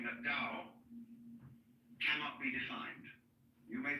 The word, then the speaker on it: Dao: it's called Daoism this character in Chinese is pronounced da Tao you would think it was pronounced t